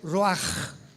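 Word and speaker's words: רוח: palabra espíritu del hebreo ru con ch se pronuncia raj como con j etimológicamente que es el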